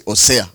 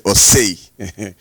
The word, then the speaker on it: Osei: is, sorry, it's not, I wanted to say Osea, but it is actually Osei.